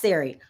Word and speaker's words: Surrey: It's spelled Surrey, but it's pronounced Sari.